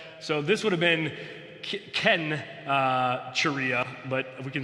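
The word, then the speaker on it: Cenchreae: So this would have been Ken Charia, but we can say Sensor Korea if you want to.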